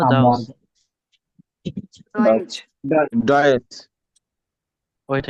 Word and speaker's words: Deutsch: ডয়েচ ডয়েচ wait a minute ভাই, এটা ডয়েস না ডাউস?